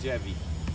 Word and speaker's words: Dziewit: almost 20 years now so you pronounce it mike mike jeffy jeffy ah and how are you gonna get that with a dz a long long story